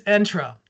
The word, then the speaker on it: Entra: building, like Entra, or is it the word like you have to go on a ride, like Entra? I know I've been saying it wrong for a while now, so I just wanted to settle this for once and for all. It is Entra. It's Entra to enter, to gain access, which makes sense, right?